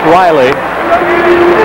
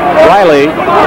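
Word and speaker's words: Rahilly: hurricane it's on jeff riley inside against williams riley is spelled r-a-h-i-l-l-y there are brothers on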